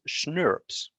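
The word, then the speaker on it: snRNPs: my favorite uh acronyms which is schnurps kind of pronounced the same way as schnapps if you've ever had that it's like a really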